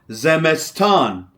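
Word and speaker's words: زمستان: It is called zeston. Z mess. Zeston. Zeston.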